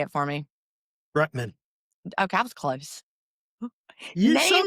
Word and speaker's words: Rutman: I just said your last name wrong. Say it for me. Rutman.